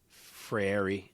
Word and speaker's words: Freire: Frary, I think.